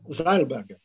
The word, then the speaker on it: Zeilberger: Would you pronounce it German way or American way? Zeilberger or Zeilberger? Who knows? Zeilberger. Zeilberger, American way.